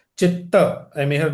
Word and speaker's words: chitta: is the full word is not chit actually it's chitta I may have mispronounced my apologies for that.